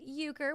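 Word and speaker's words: Euchre: It's pronounced Uker, which we we all know.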